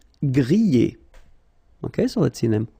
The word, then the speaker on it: griller: Okay, remember er, because these are verbs here. Griller, pocher, éplucher. Okay, you pronounce them A. Okay, even if you've got this R. Okay, this combination of two letters, R at the end, will give you the sound E.